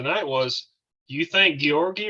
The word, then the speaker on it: Georgi: See, I think what the problem is here, Roy, you're putting the emphasis on the wrong syllable.